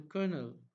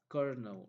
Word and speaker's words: colonel: the younger and the colonel it is pronounced as Colonel okay Colonel and on an army person